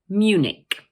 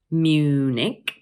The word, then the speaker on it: Munich: So in English, we normally pronounce it as Munich. Notice that the word has two syllables, Munich, and the stress is placed on the first one.